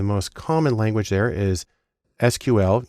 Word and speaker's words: SQL: common language there is SQL usually pronounced sequel which stands for structured query language because that's where the